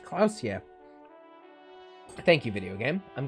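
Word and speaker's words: Klaasje: Klausier is pronounced Klausier.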